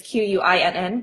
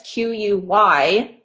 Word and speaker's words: Quynh: Yeah, but it's spelled a little differently because it's Vietnamese. So because people think it's Quyinn, but it's Quynh.